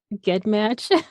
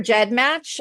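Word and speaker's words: GEDmatch: it wrong I think I call it get match because I you know what a lot of people do there's actually two accepted pronunciations so you're not totally wrong okay I prefer jet match I've been friends with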